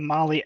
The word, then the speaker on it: Mahle: And for the podcast listeners, Molly is spelled Mahle.